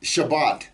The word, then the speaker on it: Shabbat: of Jews who who pronounce the T sound at the end of a word as an S you'll hear it in Shabbat they'll say shabas or